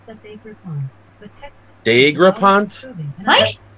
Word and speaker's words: Daigrepont: Donation pronounced Daggerpont. Daggerpont. It's from Louisiana. Dagger Point. there you Daggerpont. go. So Alexa, pronounce DAIGREPONT. I pronounce that Dagrapont, but text is Dagrapont?